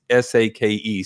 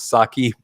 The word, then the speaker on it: sake: i listened to dracula the voice did pronounce s-a-k-e sake and i think what the author meant was saki but still it is